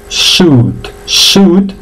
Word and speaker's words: suit: Bien, esa se pronuncia sweet, vale, la I no suena, no digáis sweet porque sweet es dulce, entonces se pronuncia suit, que es traje, ¿vale?